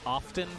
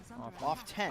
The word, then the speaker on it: often: a fragile hero too do you say often as well do you pronounce the t often you do off ten i probably say often you say oh i say often yeah interesting that you choose